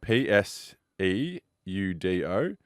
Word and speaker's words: pseudo: So, first one, it's uh spelled P S E U D O. Pronounced pseudo.